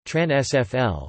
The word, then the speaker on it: Transvaal: The Transvaal Colony, Afrikaans pronunciation, Trans-SFL, was the name used to refer to the